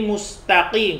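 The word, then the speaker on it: ٱلْمُسْتَقِيمَ: kita ke bawah yang lain gitu ya jadi mustaqim karena Pak itu bertemu dengan huruf qaf akhirnya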